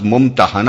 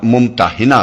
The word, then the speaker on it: ممتحنہ: الممتحنہ رکھا گیا ہے۔ اس کا تلفظ ممتحنہ بھی کیا جاتا ہے اور ممتحنہ بھی۔ پہلے تلفظ کے لحاظ